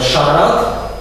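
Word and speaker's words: siarad: Оце он С та І, читається як Ш. Ти вже бачив там Шарат, пишеться ось так.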